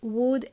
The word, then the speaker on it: would: We are going to use words could, would, and may. They help us sound more polite. Remember, could and would, L is silent. We don't pronounce the L.